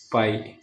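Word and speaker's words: φ: तो फ्लूइडिटी को हम इस सिंबल से डिनोट करते हैं जिसको हम प्रोनाउंस करते हैं पाई पी एच आई।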